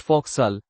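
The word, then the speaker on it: fo'c'sle: The nautical term folks slay pronounced fauxal is a common shortening of what word referring to the forward part of a ship where sailors live?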